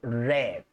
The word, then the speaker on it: read: Si dicen my father read, y oímos red como el color rojo.